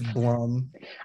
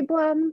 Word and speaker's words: Blum: how to pronounce it obviously it's blum i thought it might be plum but i'm like i